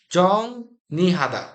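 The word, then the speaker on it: 정리하다: তাহলে আমরা যদি এখানে মনে মনে নিউন ধরে শব্দটা উচ্চারণ করি সঠিক উচ্চারণ হবে জং, জং নি, জং নি হাদা।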